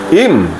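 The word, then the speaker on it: עִם: Kemudian kita masuk kata berikutnya, im, pelafalannya im, ya.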